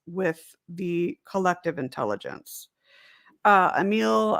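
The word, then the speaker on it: Émile: the collective intelligence uh a meal or i know i think it's a meal is how uh it's pronounced emil durkheim is is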